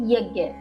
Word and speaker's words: यज्ञ: के लिए कहा था यज्ञ अर्थात यज्ञ। मैं पुनः पुनः यह दोहराती हूं ताकि आप इसका सही उच्चारण समझ पाए।